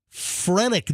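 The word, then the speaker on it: phrenic: The claim is the surgeon severed his frenic nerve. I never heard of that before. I've never heard of that either. I don't even know if I'm pronouncing it properly. Franic nerve.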